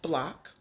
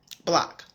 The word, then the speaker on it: BLCK: talk about block again it's pronounced block as a neighborhood you know as in the block that you grew up on block so the first question